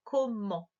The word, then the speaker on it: comment: Comment. Et c'est le T à la fin qui ne faisait pas de bruit.